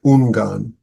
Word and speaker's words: Ungan: Ungan is my poor Chinese pronunciation. In Sino-Japanese, his name is pronounced as Ungan.